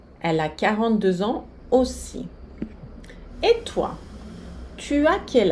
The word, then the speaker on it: aussi: Elle a 42 ans aussi. Ela tem 42 anos aussi também. Vocês veem aqui a junção da letra A e U fazendo o som O. Elle a 42 ans aussi.